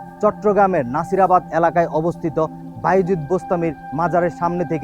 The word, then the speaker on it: বাস্তামি: আর বস্তামি অর্থ হচ্ছে বস্তাম শহরের অধিবাসী। আসলে উচ্চারণটি হবে বাস্তামি অর্থাৎ বাস্তামবাসী।